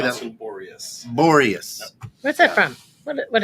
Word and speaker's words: Borias: Boreas.